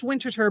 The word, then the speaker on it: Winterthur: org uh and again it's it's pronounced winterer but it's spelled winter th so don't forget